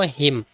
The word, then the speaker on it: hymn: HYMN এটা যদি pronounce করে কিতা হইব, HYMN প্রনাউন্স করলে আমরা এনটারে সাইলেন্ট রাখবো, উচ্চারণ করবো হিম।